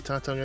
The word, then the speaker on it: Tatung: How do you say Tatung Einstein? Tatung, like Netflix.